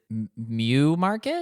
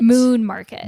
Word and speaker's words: Moon Market: Did you guys pronounce it mu market? Moon market. Moon. Like the moon.